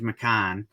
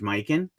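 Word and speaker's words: Mikan: to probably correct me I always say George mcon but I believe it's George mikin um either way Legendary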